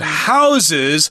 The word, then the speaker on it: houses: vermier okay so it houses Dutch art hear the word house with a z sound at the end there that's a verb it just means something